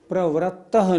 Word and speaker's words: प्रवृत्तः: उच्चारण में एक शब्द पर जरूर ध्यान देना है। प्रवृत्तः नहीं, प्रवृत्तः। नीचे रा नहीं, ये री की मात्रा है।